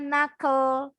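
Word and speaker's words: knuckle: melakukan sesuatu next sama The Key is silent tapi Kak yang di tengah harus bunyi kalau tangan Kalian nih yang jendol-jendolnya nih yang ada tulang-tulangnya nih nongol ini namanya Nakel Jadi kalau kalian bahasa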